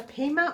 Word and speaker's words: pima: it is cotton and it's a pima or pima cotton depends on how you pronounce it it's called cascades yarns